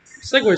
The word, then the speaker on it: segue: It's a good segue. I like segues. I do too. Trying to rent some later? I guess that's the same thing. Segway scooter, right?